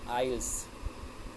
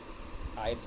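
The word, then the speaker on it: aisles: Then लिखा आपका आइल्स, आइल्स पढ़ेंगे इसको, आइल्स।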